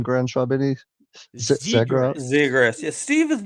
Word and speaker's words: Zegras: Zegras.